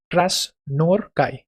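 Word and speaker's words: Krasznahorkai: तो हंगारियन author Laslo title मन रखनी देखो टाइटल होची Krasnorkai हला ए जेडनटा येटा साइलेंट रहे Krasnorkai Laszlo Krasnorkai wins Nobel Prize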